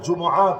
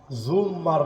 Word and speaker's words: জুমআ: জুম্মার নামাজ না, আমরা নামাজ পড়ি জুমআর নামাজ।